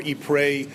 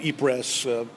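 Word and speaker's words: Ypres: We pronounce it eers. There's much controversy about the correct pronunciation of this city. Many would say it's more e prey with the French pronunciation.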